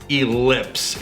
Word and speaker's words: Elips: So the new product we're going to talk about today, and help me on the pronunciation in case I mess this up. It's called Elips.